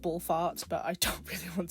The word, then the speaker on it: Ball F4RT: I am aware it should probably be pronounced Ball Farts, but I don't really want to pronounce it like that.